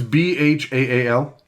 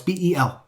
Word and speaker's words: Bel: Bel is an interesting pronunciation. That's Bhaal. No, it's Bel.